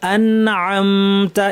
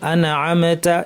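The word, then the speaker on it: أنعمت: এখানে দেখেন সিরাতাল্লাযীনা আনআমতা, এখানে একটা কমন ভুল হচ্ছে, অনেকে নুন এবং মিমে আওয়াজটা বাউন্স করে, কলকলার মতো শোনা যায়। আনআমতা এরকম শোনা যায়, আনা আনা আনা এরকম না, আন আন, জিব্বা যেন ধাক্কা খেয়ে সরে না আসে, সরাসরি আইনে চলে যাব, আন শেষ করে আতে চলে যাব।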